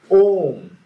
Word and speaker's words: Om: So this syllable Om is a syllable which is consisted of 3 letters. A, U, Ma.